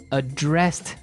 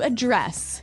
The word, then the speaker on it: address: The verb address has the the stress on the second syllable.